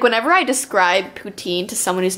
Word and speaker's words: poutine: know gravy cheese curds on top of fries poutine is that how you pronounce it yes but if you go to